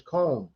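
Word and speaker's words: Köln: the american cologne but in germany it's cone uh k i thought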